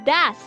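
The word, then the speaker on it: does: Oke, now dibacanya das. Das. Kalau nanya gitu, das traffic jam happen in Jakarta. Das biasa. D-A-S. Das.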